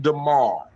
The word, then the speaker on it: Demar: It's like Lamar but with a D.